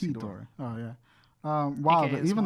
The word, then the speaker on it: Hedorah: How do you pronounce it? Ted? Hedron. Hedorah. It's Hedorah.